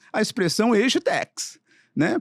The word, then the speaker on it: agetech: nos assistindo nos ouvindo que é a expressão e Tex né pronunciei correto aqui você que é um Expert né minha pronúncia tá boa Tá certíssima tá aid Tech são eh empresas Ou startups focadas em desenvolver